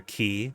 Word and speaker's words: Quay: Lon and Rose are huddled together on call your key. It's French, right? Quay to key. Just spell it key.